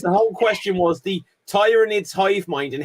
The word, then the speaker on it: Tyranid: is the nature of Tyran ais's hive mind cap they're are called pronounced tyranid they're basically like uh